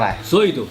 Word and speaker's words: Zoids: ไม่ คุ้น ชื่อ นะ ซอย นี้ ก็ คือ สะกด มา จาก z o ids นี่ ตาม ชื่อ นี้ เลย ญี่ปุ่น เขา ไม่ เรียก ซอย เ เรียก อะไร ซด ซด ซด อ่า ใช่